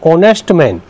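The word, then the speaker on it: honest: ठीक है, ये साइलेंट बोला गया है एच, तो ऑनेस्ट जो है वावल है, इसमें क्या आएगा, एन का प्रयोग होगा।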